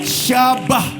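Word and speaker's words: shabach: UNT Tuhan yang terakhir syabah ini yang agak susah nulisnya s h a b a CH H syabah bacanya s h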